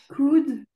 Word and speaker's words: could: Pour ces mots que tu vois ici, Oui. prononce jamais le L. Ah, d'accord. Jamais. Vas-y, essaie de me les redire. Could, would, should, talk, walk.